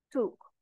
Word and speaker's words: took: Por ejemplo, take, el pasado sería took, como cuando decimos la palabra book, libro. Si tenemos una doble O, se pronuncia como una U. Took. El pasado participio, ya vamos